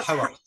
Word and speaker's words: Haworth: that Elizabeth uh, observed through not only her own interactions, visiting the Bronte home, and how do you pronounce it? Is it Hayworth or Howarth. how Howarth.